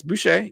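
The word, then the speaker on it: Boucher: he gets bought out I know I butchered his last name uh no it's bue you're you got it correct Chris bue um I think that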